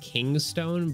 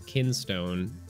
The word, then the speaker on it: Kinstone: holding your Keystone pieces I keep wanting to say like King's Stone but it's kinstone I think I've been